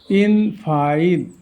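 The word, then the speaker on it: oenophile: English ওয়ার্ডের শুরুতে বা মধ্যে ও ই এর উচ্চারণ ই হয়। তো ও ই, এই যে ecology, ইনফাইল, oestrogen, oesophagus, over, Oedipus, Phoenix.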